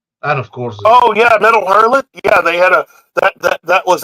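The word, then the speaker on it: Métal Hurlant: Metal Hurlant. Oh, sorry. Well, I pronounce it French way.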